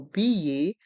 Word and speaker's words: billet: un billet de train dans le mot billet on entend le son ye les lettres e et T se prononcent e B de train